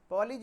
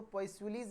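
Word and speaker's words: Poiseuille: यानी जो पॉलीज equation है इसको पॉलीज इक्वेशन कहते हैं। कई लोग इसको पोइसलीज इक्वेशन कहते हैं। लेकिन नहीं ई जो है यहां पर साइलेंट होता है।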